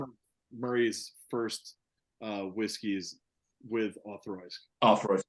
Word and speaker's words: Auchroisk: All right, so the way you pronounce this, Auchroisk, the CH is more of a TH sound.